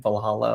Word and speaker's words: Valhalla: Valhalla yeah, Private Valhalla.